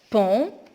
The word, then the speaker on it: pont: Pont, on ne prononce pas le T.